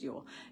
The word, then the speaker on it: Yule: And in the Old Norse tradition, it's spelt Jewel, but it's Yule. It's pronounced Yule, J-U-L-E.